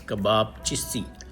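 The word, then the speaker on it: Kebapçısı: Okay, the C with the yeah version. This is called ch, so it's Kebab Chisi.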